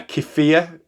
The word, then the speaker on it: kefir: high protein natural um kefir I think that's how you pronounce it uh drink uh I know uh keia that's it not Kea keia uh yogurt is very